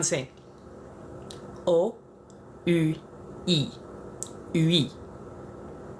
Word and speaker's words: oui: O-U-I. Oui. So, oui is just the enunciation of the vowels. O becomes O. U becomes U. I becomes E. It's just how it's pronounced.